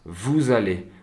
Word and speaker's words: vous allez: Ils se prononcent vous allez, comme si c'était un seul mot finalement.